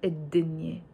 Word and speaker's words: الدنيا: pronounced alif lam il, whenever the word starts with a sun letter, I don't pronounce the lam of the il. I just say الدنيا instead of الدنيا. I do write both the alif and the lam الدنيا, but we pronounce it الدنيا.